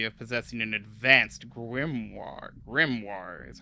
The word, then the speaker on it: grimoire: Grimoire is how you say that.